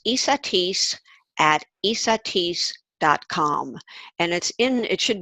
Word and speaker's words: Esateys: It's ESAT, like in Tom, EYS, like in stupendous.